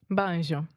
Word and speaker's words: banjo: Banjo. Banjo, right? Banjo. In English, we say ban. Say that with me. Ban. Joe. Banjo. Yeah, and we really exaggerate that moving vowel, the O sound.